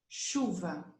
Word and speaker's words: chuva: So this sound, CH, we must say it like sh, always. Let's give some examples. Mochila, borracha, chave, chuva, chuveiro, chapéu.